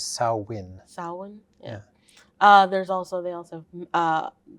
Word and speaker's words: Samhain: I think the Gaelic way to pronounce it is Samhain.